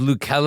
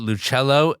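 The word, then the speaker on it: L'Uccello: I will shout out a place called, it should be pronounced Lucello, although everyone calls it Luchello.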